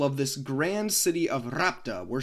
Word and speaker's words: Rhapta: and yes I looked it up it is pronounced rapta the people of this Grand City of rapta were said to use two different types of